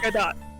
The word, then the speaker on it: Godot: Gadot. let's here. I was like, Gadot, yeah! No! Godot. Let's do Godot.